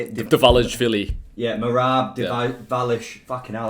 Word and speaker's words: Dvalishvili: Dvalishvili.